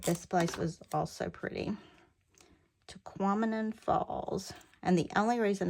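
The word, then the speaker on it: Tahquamenon: toquam and re REM toquam and rhymes with phenomenon and so every time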